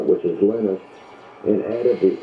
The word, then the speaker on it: Linus: Do you think that Linus Torvalds took the Finnish pronunciation of his name, which is Linus, and added the X?